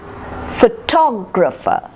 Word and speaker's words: photographer: so it becomes photographer photographer fatal so the emphasis shifts to the second syllable photographer and then you